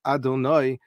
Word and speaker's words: Adonai: But the name that we call the Shem Havaya, the Shem HaMafurash, which is written Yud-Kei Vav-Kei and pronounced Adonai, that is the word that we find primarily used in the Torah, describing God.